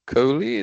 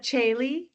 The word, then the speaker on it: Chaylee: Next we have Coley. Did I pronounce that correctly? Please let me know. I have enabled your microphone. Oh, sorry about that. It's Chaylee, and Chaylee, hi, thank you.